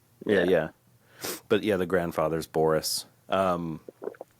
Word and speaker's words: Borress: So the stress is on bore, so it's Borress. Borress. Like Borress. Borress. Yeah. AC Yeah, Borress. pretend it's spelled like Boris, and then I don't think you'll pronounce it wrong.